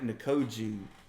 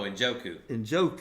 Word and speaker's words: Njoku: And I like Nkoju. Did I say his name right? David Nkoju from Cleveland. Oh, Njoku.